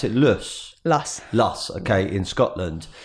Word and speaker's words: Luss: And reading here that you started on your family farm in, do you pronounce it Luss? Luss.